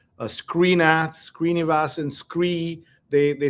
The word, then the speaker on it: Sree: years, I pronounced your name with an H after the S. Yeah. Sree.